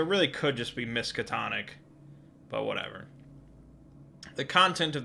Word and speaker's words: Miskatonic: You know, I get harped on sometimes because I pronounce it Miskatonic. And I recall doing research when I made, like, the locations video that told me that it should be Miskatonic.